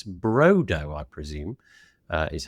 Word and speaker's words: Brodo: It's Brodo, I presume, is how you pronounce that.